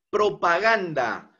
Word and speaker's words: propaganda: Propaganda. Propaganda. Gan. la sílaba tónica, acento eh prosódico.